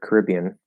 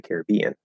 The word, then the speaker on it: Caribbean: But actually, in the name of the movie, I'll usually say Pirates of the Caribbean. Caribbean. And that's because I think I've heard the name of the movie pronounced that way more often than not.